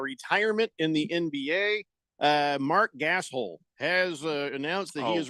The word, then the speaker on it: Gasol: Because he understands worldly dialects, and just like me, I've been to Spain, brother, and it's pronounced Gasol.